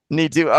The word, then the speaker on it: Neetu: And hopefully I'm pronouncing that correct. Yes, you pronounced it correctly. It is me too. Neetu.